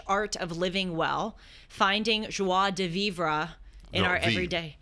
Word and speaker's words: joie de vivre: It's called The French Art of Living Well, Finding Joie de Vivre in Our vive. Everyday. It's pronounced okay.